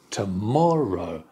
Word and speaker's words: tomorrow: to the other three the answer is the third word tomorrow d d du tomorrow the stress on the second syllable tomorrow the other three